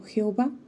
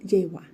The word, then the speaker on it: Jehová: lo nombra Dios históricamente a menudo hemos pronunciado la palabra como Jehová cuando en realidad esta suena más a jehua cuando el Antiguo Testamento